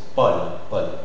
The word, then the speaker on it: Paul: AU c'est O fermé, mais je suis en train de passer aussi au prénom Pablo, Paul, ça s'écrit AU, et ça s'articule O ouvert aussi. Paul, ok?